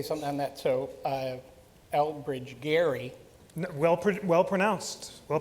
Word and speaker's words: Elbridge Gerry: So Elbridge Gerry Well pronounced, sir.